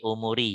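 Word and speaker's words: أموري: Iya, pertama tadi bacanya kurang ini di umuri ya, umuri gitu. Yang benar, yang kedua tadi yang benar, yang kedua tadi umuri karena di sini ada wawu ya.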